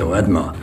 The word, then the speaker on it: Artmann: Blödsinn, das heißt Ordmer. Wir heißen Ordmer bei den Zaras.